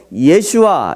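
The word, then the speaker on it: ישוע: 역사의 예수 라고 발음하는 이 히브리어 에 예수와 이렇게 발음 하는데요 예수와 라고 하는 발음의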